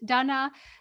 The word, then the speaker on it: Dana: is Donna and learning that my heritage is Czech and learning that's why my name is pronounced Donna.